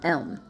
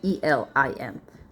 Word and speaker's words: Elim: The waters of Marah and Elm, M-A-R-A-H, Marah and Elim, I should say, E-L-I-M, Elim.